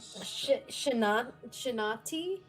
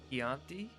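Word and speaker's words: Chianti: I know that we need a shint shin chinati. Is that how you say it? Keanti.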